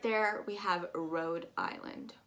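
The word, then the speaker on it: Rhode Island: right there we have road island road like i rode my car or i'm going on the road um and then to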